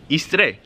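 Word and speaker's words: i stret: Istre. Igud. And when you say istre, just know that the T is pronounced like the what in English. Like you don't really pronounce the T, but it's still there.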